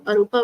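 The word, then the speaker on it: arūpa: is kamaa second is Rupa you should uh pronounce with me arupa and l chati what does it mean it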